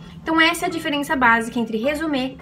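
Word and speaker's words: résumé: é conhecido aqui como resume essa palavra tem origem francesa então é por isso que tem essa pronúncia resumir o currículo vitae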